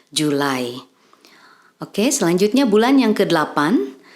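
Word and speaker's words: July: Juli dalam bahasa Indonesia dalam bahasa Inggris pengucapannya menjadi julai Oke selanjutnya bulan yang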